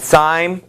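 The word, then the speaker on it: Syme: And Sime is how I'll pronounce his name.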